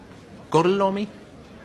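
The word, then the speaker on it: Gorlami: Gorlomi? Lo pronuncio correttamente?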